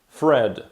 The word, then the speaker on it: thread: angielskim gwint lub nic fred fort tutaj najbardziej zmieniona jest wymowa pierwszych dwóch liter ponieważ th zamieniamy na f jest to tak zwane efy mówione przez zęby gdy chcemy powiedzieć że